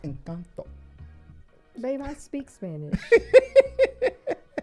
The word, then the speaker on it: Encanto: I've watched Encanto many times and it is a good It's pronounced Encanto, babe.